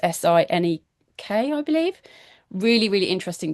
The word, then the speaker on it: Sinek: It's by Simon Sinek. I think it's pronounced Sinek, I believe.